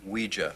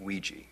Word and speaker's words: Ouija: Joe what it's pronounced we Gia not Ouija it comes from the French and German words for yes we and yeah we